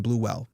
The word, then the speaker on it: Bluewell: I'm not mispronouncing it. Bluefield is different than Bluewell.